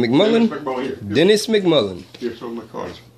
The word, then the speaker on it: MacMullan: Dennis MacMullan.